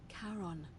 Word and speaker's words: Charon: Only your pronunciation is a little off. The name じゃあ6月終わりにま来ますね。カロン As in Charon, the 死 ferryman 者 of の the dead.